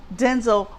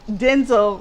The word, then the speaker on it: Denzel: And yes, Denzel said his name is pronounced Denzel, not Denzel. Well, he should have told us that 20, 30 years ago.